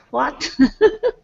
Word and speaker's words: what: kind of almost think, even though it's spelled WH, it's kind of pronounced as though it were an H and then a W. My advice, however, is to pronounce it just like it's a W, because that's what how most people will pronounce it.